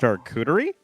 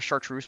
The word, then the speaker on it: charcuterie: charcuterie? Is that what they're okay? That's how you say it. I've heard it called a chartreuse board, and I'm just like, okay, I'm uncultured.